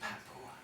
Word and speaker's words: Papua: It's pronounced Papua.